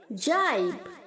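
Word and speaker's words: gibe: जाइब, जाइब्ड, जाइब्ड। यहाँ पर भी सेम है बच्चों, जी जो है वो जे की तरह साउंड करेगा, जाइब।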